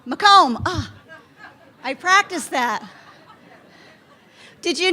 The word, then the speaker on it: Macomb: Macomb County, Macomb, am I saying it right? Macomb, I practiced that.